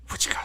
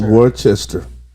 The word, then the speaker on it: Worcestershire: Wichita sauce. Bro, I do not know how to pronounce it, so it's Wichita. Worcestershire. What? Worcestershire. Say it one more time. Worcestershire. It's Worcester.